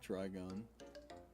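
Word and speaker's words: Trigun: That's a nut terron pronounced try with try gun.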